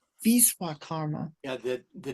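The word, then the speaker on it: Vishwakarma: Vishva karma. Visa karma. Yeah. The the W is pronounced like a V often.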